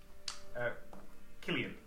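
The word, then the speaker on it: Cualli: Like Cullion, but Yes. it's pronounced Killian. See you what? C-U-A-L-L-I. I've added the N at the end because I can't pronounce it. That's Killian, right? Yeah. Killian. Like kill Ian. To kill Ian.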